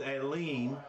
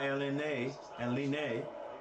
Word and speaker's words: Aline: So they say his name is Aline and not Elene.